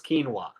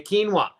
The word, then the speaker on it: quinoa: comment let me know what it is it's quinoa okay quinoa the UH just goes back for a long